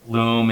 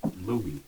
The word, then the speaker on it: Loom: guys and they're obviously you pronounce it Loom yeah Loom okay I I was Lou I don't know no it's loom loom okay do you see